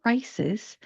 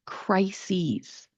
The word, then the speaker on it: crises: If you listen to the difference when I am pronouncing this, crisis, crises, there is a vowel change because the spelling of the plural form of the word ends in an ES.